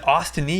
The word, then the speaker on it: ostomy: Is it ostomy or ostomy? Ostomy. With an M.